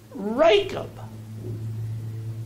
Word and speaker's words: Rachab: if you got one with the pronunciation helps in it, that CH is pronounced as a K, okay?